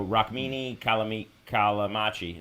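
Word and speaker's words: Rukmini Callimachi: uh and it was essentially about Isis so raki kamam kamachi that's that's how you say her name uh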